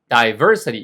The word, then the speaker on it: diversity: diversity 이것도 역시 y에서 거꾸로 두 번째의 모음ac센트가 있고 종종이 발음을 diversity 하는 원어민들도 있어요.